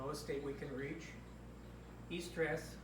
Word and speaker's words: eustress: Eustress, pronounced Y-O-U, eustress, is good stress.